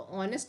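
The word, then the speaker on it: honest: तो ऑनेस्ट में किसका प्रोनाउंसिएशन आ रहा है, ओ का प्रोनाउंसिएशन आ रहा है।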